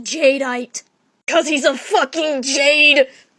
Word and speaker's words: Jadeite: episode didn't you that and his name is pronounced jadeite cuz he's a Jade one